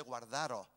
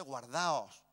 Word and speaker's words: guardaos: nos está corrigiendo que no se dice guardaros se dice guardaos Pues aquí está Mira